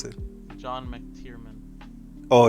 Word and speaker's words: McTiernan: John McTiernan. Oh, it's got a Mac in front of it? Yeah, the MC. Like McDonald's, you say the whole thing. John McTiernan.